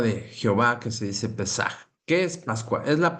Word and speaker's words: Pesaj: Si se pronuncia Pesaj.